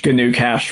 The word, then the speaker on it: GnuCash: As well as uh I'm going to say it wrong, but I'm but I'm just so you'll know what I'm saying, GnuCash.